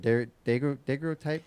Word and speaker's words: daguerreotype: I can't pronounce the word. Daguerreotype. I can. Daguerreotype.